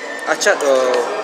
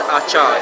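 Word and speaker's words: Acar: Achat, it's pronounced Achat, A-C-A-T, but if you go into Google Maps, it's Achar, A-C-A-R.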